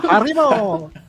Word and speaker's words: Haribo: still have a old Grudge so be called Haro that's how it's pronounced yeah I'm not really into Gummy Bears